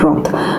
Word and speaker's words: wrath: The W is silent, so it is pronounced just as wrath.